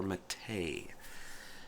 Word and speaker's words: MATE: talk about that name matei english-speaking people see it and they see ma te and they want to call it mate and the reason for